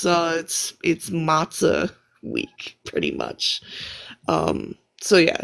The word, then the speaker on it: matzah: Just pretty much clear out your house, and it's matzah week pretty much. So yeah, not my favorite holiday, So it's but just like you clear out you clean up the house, and that's matzah.